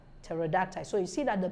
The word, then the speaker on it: pterodactyl: pH and Silent s so p is silent in these words psychiatrics pneumoniae pneumatic psychotherapy psychotic psychology psychologists pseudo pseudonymy pseudonym pseudonym and pterodactyl pterodactyl so you see that